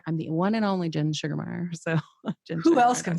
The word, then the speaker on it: Sugemeyer: who want to know it's g e not g-a-r so gen yeah s-u-g-e-r yeah yeah so yeah all